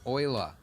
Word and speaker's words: Euler: all right cool man Oiler is how we're supposed to pronounce your name but you're dead so you alive wow I'm going with Eula it makes more sense